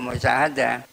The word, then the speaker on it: musyahadah: Wa musyahadah ini bacanya wa musyahadah. Asdar dari syahadah yusahidu musyahadatan, tapi taknya dibuang karena ini syair.